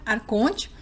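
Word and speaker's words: ἄρχων: Então, não há palavra copta egípcio antigo, para arconte. Então, os textos gnósticos usam o termo grego da transliteração copta, que é pronunciado arcon.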